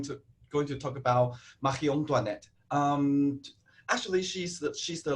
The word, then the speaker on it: Marie Antoinette: is the wardrobe of marion duanette okay as you can hear from how i pronounce this name she's actually austrian and she's the last queen of france so we pronounce her name in french so last french queen